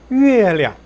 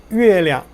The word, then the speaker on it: 月亮: 月亮, 月亮, 량자 약하게 경성으로 발음합니다.